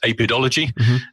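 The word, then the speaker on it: Apidologie: So in in in France there's a journal apidolog which is we pronounce apidology which is the study of bees.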